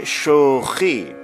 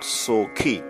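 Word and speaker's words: شوخی: We say shokhi. We say shokhi and not sokhi.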